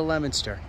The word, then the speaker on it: Leominster: the lowe's here in leominster massachusetts or leominster if you want to pronounce it right but not be funny